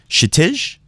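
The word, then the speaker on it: Kshitij: The K is silent. But then some people commented below from India that in the Indian language, nothing is silent. There is no silent.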